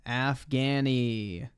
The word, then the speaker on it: Afghani: say it like that just say Afghan afani it's Afghan AF Afghanistan Afghani bro uncultured swine Timothy marcoa